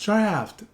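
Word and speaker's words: draught: And she writes back, no, the owner was right. It is pronounced draft.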